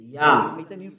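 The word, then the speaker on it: יה: Yah. According to the Hebrew. When you see this word, it is read Yah in Hebrew.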